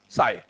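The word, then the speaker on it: psi: P silent, ठीक है ना, साई।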